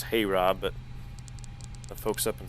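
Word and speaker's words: HAROB: I know it says Hey Rob, but the folks up in Seattle tell me it's actually pronounced harbor, so that'll going to lead us right back into the ILS 16 center.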